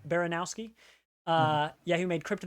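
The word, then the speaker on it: Baranowsky: Baranowski. Baranowski.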